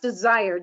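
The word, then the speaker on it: DSIRE: slide is from a database that's called It's pronounced desired d-s-i-r-e I believe it's out of the University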